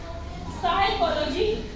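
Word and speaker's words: psychology: होगा साइलेंट होगा जैसे एग्जांपल है साइकोलॉजी ठीक है साइकोलॉजी अब यहां पर हमने पी जो है साने बोल इसको साइकोलॉजी ठीक है साइकोलॉजी हमने बोला यहां पर पी का यूज नहीं किया है यानी कि एन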